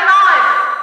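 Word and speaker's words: knight: طيب اشهر حاجه كلكم عارفينها K plus N. عارفينها ولا مش عارفينها؟ K plus N عارفينها؟ زي نايت، زي نور، زي نايت فارس مش بالليل.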